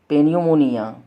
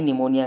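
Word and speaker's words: pneumonia: eagle टाइटिस और पेनी पनमनियन इसको प निमोनिया नहीं निमोनिया कहते हैं वो साइलेंट हैपी निमोनिया इगोल टाइटिस और मे मेनिनजाइटिस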